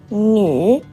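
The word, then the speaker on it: 女: We pronounce it "nü".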